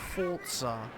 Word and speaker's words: Forza: I hate how some people pronounce Forza with a T. Yeah, the British. Forza. You know, they forget to say the T in every other word except the one that it doesn't fucking exist in.